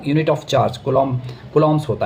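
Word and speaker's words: coulomb: देता हूं unit of कूलम कूलम्स होता है। ठीक है? इसको कूलम बोलते हैं। स्पेलिंग होती है सी ओ यू कूलम।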